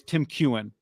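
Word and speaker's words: Tim Keown: Tim Kewen, thank you, is the pronunciation.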